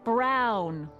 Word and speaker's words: Brown: That's Emmett Brown. Rhymes with he clown, can make machines.